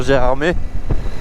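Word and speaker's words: Gérardmer: lequel on est venu sur G armée. car oui, ça se prononce armé.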